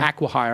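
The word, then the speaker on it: acqui-hire: right Aqua hire aquire Aqua hire I got to pronounce it correct like Aquaman aqua Aqua Velva and um so I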